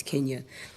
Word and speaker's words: Kenya: Just for everybody's pronunciation, it's Kenya.